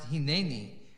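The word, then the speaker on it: הִנֵּנִי: abraham abraham responds um by the way it's definitely pronounced hinani at the end of verse 1 in chapter 22.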